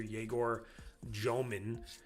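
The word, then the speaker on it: Egor Dëmin: Orlando needed a banked 3 buzzer beater from Paulo Banchero today to beat the Nets in overtime after Yegor Jomin, is how you say his name, got hot from 3 late.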